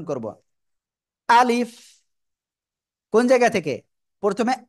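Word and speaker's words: ألف: ঠিক আছে আলিফ আলিফ আলিফ সবাই একসাথে জোরে জোরে বলেন আলিফ আলিফ আলিফ আলিফ অনেকে উচ্চারণ করতেছেন এরকম আলিফস আলিফস এরকম বলা যাবে না ঠিক আছে আমি আবারো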